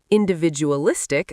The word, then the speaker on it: individualistic: Individualistic stresses the fourth syllable, individualistic.